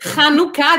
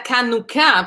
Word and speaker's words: Hanukkah: Perché diventa sempre Hanna, diventa Canna da noi. Ah, okay. Hanukkah diventa Kanukkah, perché nessuno lo sa dire questa H.